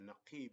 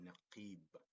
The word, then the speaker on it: نقيب: It's called naqib. So noon, qa. See, the qa has the kasra. We pronounce it qi, not qu, not qa, but qi.